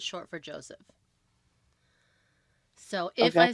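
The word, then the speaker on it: José: It's not Jose. I'm not just saying it wrong because I'm. White. Yeah. I get it. Yeah. Yeah. I In know. Spain, it's Jose in Spanish, but in Portuguese, it's Jose. They say the J because it's short for Joseph.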